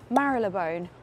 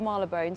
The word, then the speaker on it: Marylebone: But I am in Marylebone, although for many years I call it Marylebone, so I might flick between the two pronunciations, but yes, I'm going